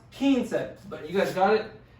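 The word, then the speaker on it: quince: just like in english it's kin se two syllables super easy say it slowly a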